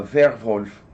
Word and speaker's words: Werwolf: They pronounce their W's with a V sound. Yeah, Werwolf.